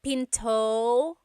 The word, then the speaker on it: pinto: is p p and remember don't forget the glot stop don't forget to stop the sound at the end that's called a gladle stop being Pinto it's not Pinto it's Pinto stop it